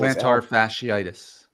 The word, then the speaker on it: plantar fasciitis: Plantar fasciitis.